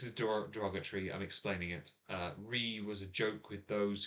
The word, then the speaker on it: Ruighe: Now I found out that the port finished Talisker, spelled Ruighe, is pronounced with only the R and the E. and multiple E's afterwards as re.